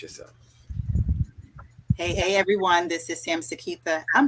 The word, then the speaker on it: Samseketha: This is Samseketha. I'm saying my name for you because a lot of you don't know it because I go by Broker Sam or Sam. So it's Samseketha, but lovely to be heard by Sam.